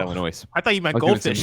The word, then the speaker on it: Illinois: I don't believe you pronounced the S. That's true. I know. Okay. In what word? Illinois. Illinois. Oh, I said Illinois.